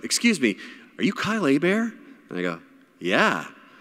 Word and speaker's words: Hebert: So my real name is Hebert. Like, Hebert is attacking me. The H is silent, the E is like an A. Hebert is a Louisiana French name, so that's about the